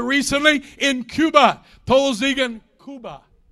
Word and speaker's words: Cuba: in Cuba poles Egon kuba kuba that's how you say it in Spanish hallelujah I'll teach how